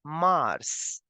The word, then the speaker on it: mars: of a twice fa March will be pronounced as Mars no no changes in the pronunciation the s in the end will also be pronounced and the way you pronounce planet Mars in English the same pronunciation goes for March in French okay so March as